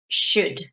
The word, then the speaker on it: should: should not should no so the L is silent the O is silent it's should this long sh is